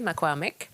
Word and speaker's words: Makwamek: Puis après ça, si on a un projet particulier, mais mettons, je prends le projet Makwamek, il faut le bien prononcer, Makwamek.